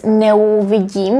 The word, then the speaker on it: neuvidím: And notice we don't pronounce it as neuvidím. We don't pronounce the diphthong eu. But because these two are prefixes, neu, we have to separate them. So we say neuvidím, eu, neuvidím.